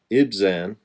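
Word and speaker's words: Ibzan: from outside his clan it zan that's the right name if I said it wrong before said led Israel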